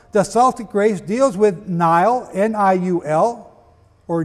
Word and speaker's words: Niall: The Celtic race deals with Niall, N-I-U-L, or Neil, pronounced today, youngest son of Phineas, Pharsus, king of Scythia.